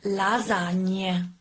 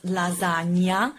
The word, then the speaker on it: lasagne: Lasagne. I ask you to pronounce the word lasagne and not lasagna, because actually in Italian we only have lasagne.